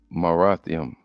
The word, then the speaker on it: Merathaim: anytime you see this this is Young so Marium Marium all right that's how you say it